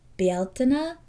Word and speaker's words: Beltane: This also in um Irish is pronounced Beltina. So if you are listening and are familiar with Irish traditions, it may sound different than Beltain. It's like kind of belina, kind of different like that.